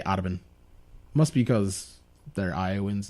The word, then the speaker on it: Audubon: Spelled like Autobahn, but they say Audubon.